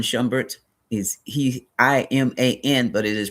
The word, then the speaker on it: Iman: The I has a E sound like Iman Shambert is he I M A N but it is pronounced Iman.